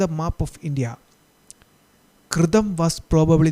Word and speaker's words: Kritam: കൃതം. കൃതം, കൃതം, അതാണ് ഉച്ചാരണം കേട്ടോ, കൃതം.